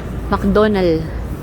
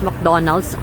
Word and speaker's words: McDonald's: Nainis sila 'ag sina pag ano tinanong sila, "Where's McDonald's?" Talagang ayaw na ayaw daw nila. Hindi daw 'yun McDonald's. McDonald. McDonald's. Hindi na pino-pronounce D at saka S.